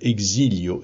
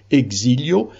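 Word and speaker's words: Exílios: d'un livre qui s'appelle exilio numéro 2 je le prononce à la française mais c'est un livre portugais un beau livre qui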